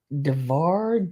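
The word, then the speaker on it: Davar: this is um pixieware it is darar d a v a r I believe it's how you pronounce it very cute piece hard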